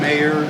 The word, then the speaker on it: Meagher: spell your name can you say your name spell it out for me and what was your role again please sure it's mayor m e a g h e r senior